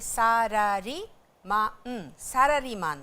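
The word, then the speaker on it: サラリーマン: ये अंग्रेज़ी के जैसे सैलरी मैन नहीं है, ये सारारी मान देस।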